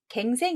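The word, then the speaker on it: 更生: 자 뭐라고 읽으셨나요 자 정답은 갱생 입니다 경 생이라고 읽으신 분 많으시죠 다시 갱 날 생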